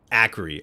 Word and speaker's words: Acri: Yeah, but with a with a with a C instead of a K. But it makes the the K sound like uh like with cat.